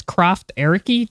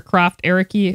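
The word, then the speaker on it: Krafft Ehricke: was born in germany his name is croft ericky dr croft ericky i believe is how it's pronounced and uh he's a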